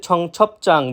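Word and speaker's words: 청첩장: কেউ যদি উচ্চারণ করে জাং, সেটা সম্পূর্ণরূপে ভুল। এরপর রয়েছে ছং ছপ চাং, বিয়োপের পরে একইভাবে জিউত থাকার কারণে চাং জিউত উচ্চারিত হয়েছে, যার অর্থ বিয়ের নিমন্ত্রণ কার্ড।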